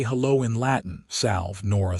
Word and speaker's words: salve: "Salve," Nora said. "It is pronounced salve."